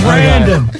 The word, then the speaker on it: Brandon: is our very own Brendan. You said the name wrong. It's Brandon.